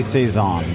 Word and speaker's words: saison: dark say song i say say songs people other people say session we could get into the pronunciation of that letter you could also say say soul save zone i could say would say saison but brewed with lemon